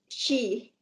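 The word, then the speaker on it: Xi: You can pronounce X, she.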